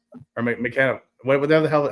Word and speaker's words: McInnes: Like Ben Chappelle and him are really good um McInness or McKenna. What? Whatever the hell, how do you pronounce his name? McKinnis.